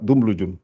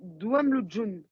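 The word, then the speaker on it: دملج: là, par exemple, j'aurais dit Douamlujun. Encore, répète encore. Alors, j'aurais dit mince. Jouam Lujun. Moi, Voilà, je dis ça, en fait. ouais, mais On l'entend pas. non, on n'entend pas le on n'entend pas le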